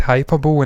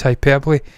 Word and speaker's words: hyperbole: Some people have famously said hyperbole, and I've howled with laughter at them. It's hyperbole.